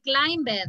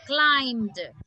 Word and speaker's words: climbed: but listen to me climbed down you don't say climb bed no climbed come on believed